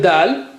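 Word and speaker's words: د: How do you say it? The same way like you say ta, but here you have a little bit force. So touch the tip of the tongue to the roots.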